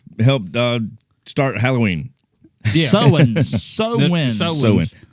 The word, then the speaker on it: Samhain: The Sowens helped start Halloween. Yeah. Sowens. But take the last S off.